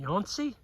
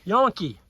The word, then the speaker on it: Yankee: It's actually Sauk County, and I'm with Darren Yancey. Did I pronounce that right? Yankee. Darren Yankee.